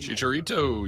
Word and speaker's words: Chicharito: is that Chicharito did I say all right Chicharito yes she is a member of the national